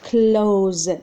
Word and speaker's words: clothes: سي ال او تي اتش اي اس مي كيتنطق clothes.